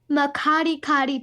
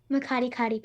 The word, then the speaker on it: Makgadikgadi: ooh, I like Makati pans. It's spelled MAKGADIKGADI space PANS. Makati pans.